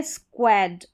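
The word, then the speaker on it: squad: फिर नेक्स्ट यहाँ पर देखेंगे ये है स्क्वाड, स्क्वाड, स्क्वाड, इस तरीके से स्क्वाड, ओ का साउंड ही है, स्क्वाड, स्क्वाड।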